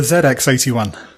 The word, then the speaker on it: ZX81: So I think Phil would like to correct your pronunciation of the computer that he first programmed on. Uh-oh. The ZX81 is the correct name.